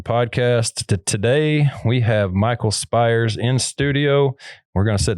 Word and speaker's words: Spyres: thank you for tuning in I got Michael spires in the studio my pronouncing that right yes sir I know it's